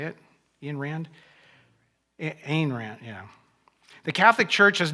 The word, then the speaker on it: Ayn Rand: Ayn Rand, I think that's how you say it. Ayn Rand, yeah.